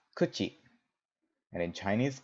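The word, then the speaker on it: 口: this simple character great in Japanese this character is pronounced kuchi and in chinese it's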